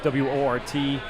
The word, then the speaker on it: Wort: All right, so if you go on YouTube and you type in The Wort, W-O-R-T, Mike and Pete, pronounced Wort, spelled Wort, you could find our channel there and all our past shows and everything.